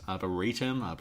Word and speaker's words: arboretum: Am I pronouncing the word? Yeah, I'm missing like a letter in this. Arboretum?